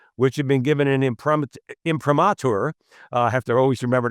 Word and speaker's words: imprimatur: It's a book and video study of the commandments, which have been given an imprimatur. I have to always remember to pronounce that word properly, Ed.